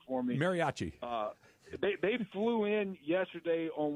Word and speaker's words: mariachi: Is we flew the Mariucci, I'm going to pronounce it wrong. Y'all get it right for me. Mariachi.